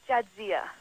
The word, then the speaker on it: Jadzia: Jadzia? Yes. Did I pronounce that right? It's Jadzia. Jadzia.